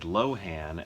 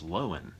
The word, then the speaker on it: Lohan: correct something I guess I made a mistake in pronouncing Lindsay's last name I said Lohan and then as soon as I finished that little uh that shot my wife goes actually it's lowen um she learned that from I think back in like The Parent Trap days or something somebody asked how to pronounce her name and she said lowen so Lindsay Lohan I